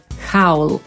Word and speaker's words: howl: Jednak wymawiamy to słowo tak, żeby się rymowało z sową, czyli owl, więc będzie to howl i znaczy wyć.